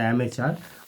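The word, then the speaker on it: amateur: তারপরে হচ্ছে আনপ্রফেশনাল, অর্থাৎ এখানে করতে হবে অ্যামেচার করতে হবে, উচ্চারণটা অ্যামেচার।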